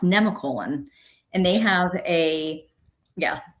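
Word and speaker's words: Nemacolin: I always called it Nemacolon, but it's in Farmington, Pennsylvania, and apparently it's pronounced Nemicolon.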